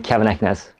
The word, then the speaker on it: Keven Eknes: how do we find you uh my name kevin eckness there you go okay well you made that